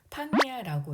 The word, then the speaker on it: パン屋: 그래서 책방을 홍야라고 읽습니다. 세 번째는 빵가게입니다. 팡야라고 읽고요.